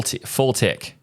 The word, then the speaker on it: FLTK: history which also reveals that fltk is pronounced full full tick fltk the biggest change